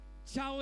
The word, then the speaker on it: chao: Chao errores, con SH si es posible, si pueden pronunciarlo con SH sería fantástico.